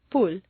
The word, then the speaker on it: pool: For clear comprehension, you need to say three syllables. Pool. Where did that W come from? It's certainly not written down anywhere, but it is there just as definitely as the P is there.